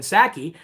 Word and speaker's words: Psaki: secretary, circle back Jen Psaki. The P is silent, like in Resident Biden.